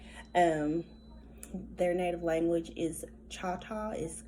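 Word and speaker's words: Chahta: heard of that um their native language is cha-cha is spelled c-h-a-h-t-a and the um most of the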